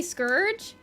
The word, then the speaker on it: scourge: Scourge is like urge.